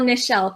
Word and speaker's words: Nichelle: And I'm Nichelle. So if anyone's interested, like Michelle with an N.